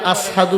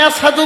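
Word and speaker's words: أشهد: মুয়াজ্জিন হয়ে গেল এবার বেলাল আজান দেয় আশহাদু আল্লা ইলাহা ইল্লাল্লাহ আশহাদু বলতে পারে না আশহাদু বলে কি বলে আশহাদু মধ্যে সিন আছে কিনা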